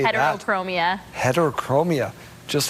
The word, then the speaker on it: heterochromia: Heterochromia.